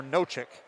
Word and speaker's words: Nosek: We got conflicting pronunciations for Robert. Nosek or Nochik. Coach Greg Mitchell told me Nozick, so I'm going to go with that.